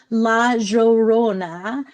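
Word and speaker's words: La Llorona: Dominican Republic so he gave me the correct pronunciation. Laorona is the weeping woman and in my library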